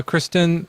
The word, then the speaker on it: Christine: Well, uh, Kristen or Christine, how do you say it? Christine.